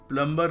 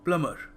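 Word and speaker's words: plumber: देखो प्लम्बर नहीं है, बी जो है ना साइलेंट है, तो ये क्या बन गया, प्लमर। प्लमर, तो याद रखिएगा, प्लम्बर को मत फोन करिए, प्लमर को करिए।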